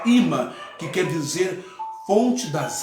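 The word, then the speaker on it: אמא: governo a palavra mulher palavra mãe em hebraico se pronuncia ima que quer dizer Fonte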